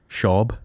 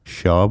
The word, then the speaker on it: Schaub: Schaub. Schaub, like Schwab? Like Schwab without the W.